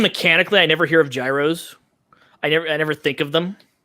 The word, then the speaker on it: gyros: I think they're pronounced gyros. Yeah. Yeah. Or gyros. There's the G silent.